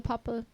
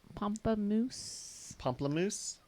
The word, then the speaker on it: Pomplamoose: I'm adding extra syllables in there. But how she was with one of the Pamplemousse. Pomplamoose.